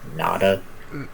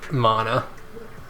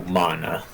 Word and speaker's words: Mana: Nekomata Nada? Mana. Oh, Mana. Yeah.